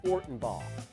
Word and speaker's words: Fortenbaugh: Joe Fortenbaugh. Thank you. Rhymes with Harbaugh.